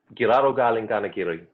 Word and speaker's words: Giraru Galing Ganhagirri: work, which is called, you have to correct my pronunciation if I'm wrong here, but Giraru Galing Ganhagirri. Is that That was really good. Yeah, yep. Giraru Galing Ganhagirri. Pretty much spot on.